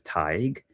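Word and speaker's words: Tadhg: So one not too popular, but pretty popular Irish name is Tig, and Tig is spelled Tadje.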